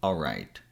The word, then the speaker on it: all right: The most common way to pronounce this word is with the L sound in all, but I've seen people skipping that sound and saying, alright. I usually pronounce the L, but feel free to use the version you prefer.